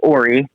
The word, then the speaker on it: Ora: You might have heard this one, but at Deadwood one year, he's pronouncing it Ora and found out that it is Ori.